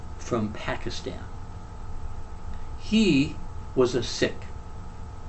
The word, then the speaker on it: Sikh: He was a Sikh. Americans say Sikh, but it's the actual pronunciation is Sikh, but that's beside the point.